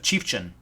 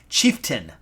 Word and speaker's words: chieftain: of my videos about my pronunciation of chief Chen chieftain I was saying chieftain but I was saying chief Chen chief Chen I'm from